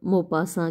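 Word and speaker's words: Maupassant: ही बताया था, और इसीलिए हमको गी द मोपासा के प्रोनाउंसिएशन में थोड़ी सी दिक्कत होती है, क्योंकि स्पेलिंग कुछ और है और प्रोनाउंसिएशन अलग है।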